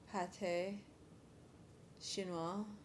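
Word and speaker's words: pâté chinois: Pronounced pate shininoa. Chinese pie. It's a French Canadian dish similar to the English shepherd's pie or French Oh, I see.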